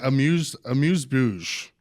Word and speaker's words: amuse-bouche: I've always said amuse-bouche. Amuse-bouche. Okay, so I was close. You just have a little more accent on it.